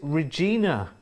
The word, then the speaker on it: Regina: It said, look, no, I rhyme with Queener, so long E. So it is Regina.